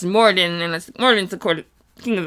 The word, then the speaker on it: Moradin: Because on Mondays, I do Greyhawk lore, deep dive lore, and Marodin, I accidentally mispronounced Moradin, and Moradin's the king